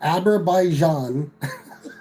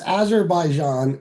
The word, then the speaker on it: Azerbaijan: This is the way he pronounced it. Abberaijan and Albania. Meanwhile, it's Azerbaijan and Armenia.